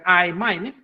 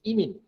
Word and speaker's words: imine: Bukan imine. Bukan imine. Dah lah imine lagi kan. Bukan imine. Imine. Sebutan yang betul, the correct pronunciation is imine.